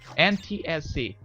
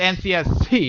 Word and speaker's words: NTSC: Because Yeah, NCS and PAL are like NTSC, you're actually saying it wrong. NTSC. Yeah, you said NCSC.